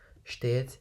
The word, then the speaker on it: steht: Florian steht, so the S at the beginning is sh, steht jeden Tag, that means every day, jeden Tag.